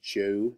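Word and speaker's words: Zhou: I know it says zh0 but it is pronounced Jew the Jew dynasty the Qin Dynasty this is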